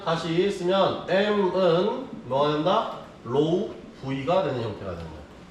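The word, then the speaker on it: ρ: 구자를 반대로 쓰고 얘의 발음은 어떻게 하냐 RHO 로우라고 합니다. 로우 그리스어예요. 그리스어 로우로 합니다.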